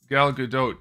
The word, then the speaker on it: Gal Gadot: know what that is Gal Gadot you do pronounce the T in her name so sorry sorry about that